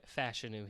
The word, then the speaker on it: Fashanu: I don't think he falls out of the top half, but yeah, I'm going Fashanu here.